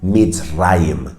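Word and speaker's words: מצרים: hebreo egipto en el idioma hebreo se dice beats rhymes que quiere decir mis rayos en hebreo es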